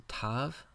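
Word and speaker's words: תו: Final letter of the Hebrew alphabet is the tav, pronounced like the English letter T. Tav. The distinctive characteristic of the tav is this little foot at the bottom which points out to the left. The tav.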